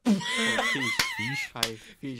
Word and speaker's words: Feige: Feige, I said it wrong.